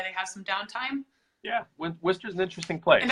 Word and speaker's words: Worcester: And am I saying it right? I think I'm saying it right. You are, yeah, Worcester. And if you want to say it like the locals say it, it's Wista, W-I-S-T-A, Wista. Yep. We have a thick Boston accent, Wista. So Worcester is a really interesting town.